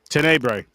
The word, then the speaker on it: Tenebre: How do you pronounce this? Um, title, Trevor. Tbre. Tenebre.